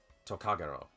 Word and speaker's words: Tokagero: is your guardian ghosts tokagiro yeah that's how you say his name tokagero is your guardian